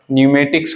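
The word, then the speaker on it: pneumatics: ऐसे एल एम लिख दीजिएंगे, नहीं, इसका हमने प्रोनाउंसिएट नहीं किया बट इसको लिखना जरूरी है। शाम हो गया, न्यूमेटिक्स हो गया, साइकोलॉजी हो गया, साइकोलॉजिस्ट हो गया,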